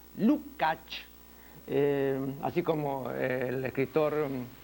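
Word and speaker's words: Lukács: Marx y posteriormente el gran filósofo húngaro georgi lucach no se escribe lucx no y se pronuncia lucach Eh así como el escritor rumano eh zoran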